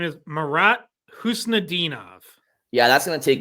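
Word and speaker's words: Khusnutdinov: Can you remind me how to pronounce his last name? So his name is Marat Husnadinov.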